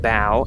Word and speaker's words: bough: I, for a long time, thought this episode was titled When the Bough Breaks. But I looked it up, and it's pronounced bow, and it's not the bow of a ship.